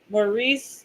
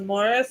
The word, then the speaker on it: Maurice: But so like if you actually said Maurice, but his name was Morris, he would like freaking freak out. But it's like your name is literally spelled like Maurice, not Morris.